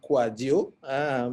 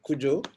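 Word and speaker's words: Kouadio: kodiwa and gana yes my name is pronounced kwajio but i know that in ghana is kuju i have a friend from ghana who used to call me kuju also i'm gonna speak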